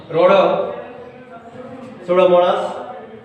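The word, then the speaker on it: Rhodopseudomonas: Here, P silent letter. Rhodosudomonas.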